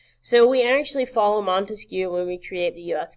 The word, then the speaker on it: Montesquieu: to the government's power remember Montesquieu three syllables three branches and so